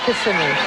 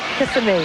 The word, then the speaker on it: Kissimmee: Is that the way you pronounce it? Kissimmee. What about at night? Kissimmee.